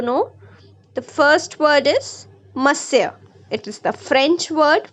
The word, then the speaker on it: monsieur: Okay, so students, here are a few words in this chapter whose pronunciations we need to know. The first word is monsieur. It is the French word for Mr. Okay, monsieur.